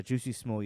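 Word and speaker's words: Jussie Smollett: their ass beat sorry you pronounced his name wrong it's uh juicy small yeah um but yeah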